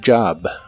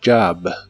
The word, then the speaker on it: job: La TH de this se pronuncia como una D vibrante y la J de job se pronuncia con el sonido J que usas en la palabra George. This job, this job.